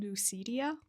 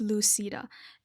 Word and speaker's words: Lucida: I said Lucidia. But no, it's Lucida.